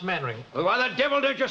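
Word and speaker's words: Mainwaring: Main wedding. Ah, do sit down. Thank you. Actually, it's pronounced maning.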